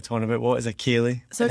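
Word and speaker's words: ceilidh: about, what is a Kaylee? So and how do you spell it? Because it's not the way it sounds.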